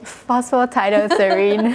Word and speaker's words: Phosphatidylserine: Can you tell me how to pronounce the PS again? Phosphatidylserine.